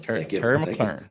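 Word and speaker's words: McLaurin: 31 Shane at 33 I mean Terry Terry mclen if you're talking about just talented wide receivers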